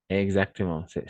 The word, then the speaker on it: c'est: Et c'est. Ici, on va prononcer c'est. Très bien, c'est le E ouvert, d'accord?